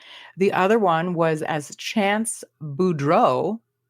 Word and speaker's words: Boudreaux: The other one was as Chance Boudreaux. This one was also like a EAUX too. Blanche Devereaux. Yeah. It's the same pronunciation.